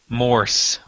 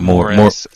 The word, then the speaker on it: Morse: that not me but Michael Morse Morse not more think Morse code Hoover Zack Morris all